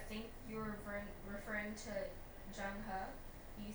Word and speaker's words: Zheng He: Also, at one point, I think you were referring to Zheng He.